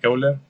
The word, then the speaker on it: Euler: Euler se escribe así, Euler, y se pronuncia así como se lee tal cual, Euler, y pues se representa con la letra E.